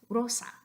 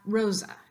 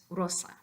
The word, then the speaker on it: Rosa: voiced version but here the S comes before a vowel it definitely doesn't come before a voiced consonant so it's still going to be s so the correct pronunciation in espanol is Rosa not Rosa it's Rosa